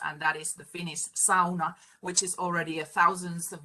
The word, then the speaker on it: sauna: the global community, really it should be pronounced sauna rather than sauna, which even most Finnish people say when they start speaking English.